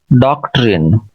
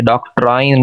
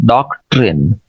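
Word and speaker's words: doctrine: ये ऊपर वाला वर्ड है डॉक्ट्रिन, ये डॉक्ट्राइन नहीं है, डॉक्ट्रिन, डॉक्ट्राइनल, डॉक्ट्राइनल, सेकंड सिलेबल पे स्ट्रेस है, डॉक्ट्राइनल।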